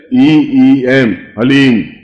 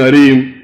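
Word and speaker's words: ह्लीं: वो बोले ओम हलीम, बस ये हलीम शब्द बहुत ध्यान से उच्चारण करने देना, HALEEM, हलीम। कोई बोले हरीम, कोई बोले हीम, तो कुछ फायदा नहीं होगा। हलीम, हलीम, ह आधा है, ओम अभी बोलना, ओम हलीम बगलामुखीम सर्वदुष्टा नाम।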